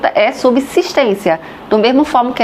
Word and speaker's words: subsistência: Subsistência é só subsistência, mas a língua é viva. Os falantes, cada vez mais falando subsistência, a ponto de o estranhamento ser total, de quase ninguém falar subsistência. E então o vocabulário incorporou a forma subsistência.